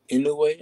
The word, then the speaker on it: Inoue: I know they got also Inoue, I think that's how you pronounce Inoue, it. Inoue, yeah.